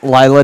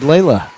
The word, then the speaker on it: Lila: Assuming they remember, we will have Lanny, also known as Kaylee Lansing, and Lila Dexheimer. She was one who corrected me. I have said Layla a time or two.